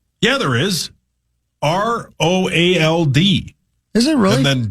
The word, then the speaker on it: Roald: Roald. Isn't that how you say it? Yeah. Sure is.